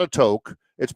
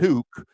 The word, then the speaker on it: toque: Canadian ski cap is called a toque not a to It's pronounced toque uh yeah not a toboga not a ski